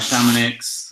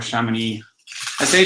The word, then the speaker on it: Chamonix: I also have a Chamonix our chemin e si Chamonix because in Spain I guess we don't know how to pronounce French and that's how we say it so I'm sorry if